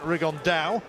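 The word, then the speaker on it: Rigondeaux: about fighting rigondo or as he's correctly pronounced with the spanish accent rig on dao and look two absolute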